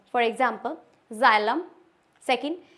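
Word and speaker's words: xylem: है ज की साउंड देता है for example जाइलम second xylophone xenophobia कुछ-कुछ एक्सेप्शन होते हैं जैसे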